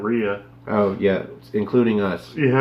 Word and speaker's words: Rhea: Well, a lot of people say Rhea instead of Rhea.